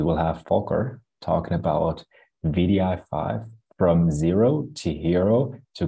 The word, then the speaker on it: wdi5: a look at things so um what is vdi5 um it's an open source tool that has